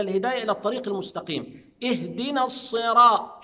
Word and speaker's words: الصراط: الطريق المستقيم اهدنا الصراط شفت الصاد صد ولا س حضرتك هتجاوب لي لا هي صاد في المصحف مكتوبه صاد يبقى الص اص اوعى تنطقها السي بعض الناس ينطك الرا لا انت بتقرا لحفظ اهد نص يبقى الصاد صاد اهدنا الصراط طا فتحه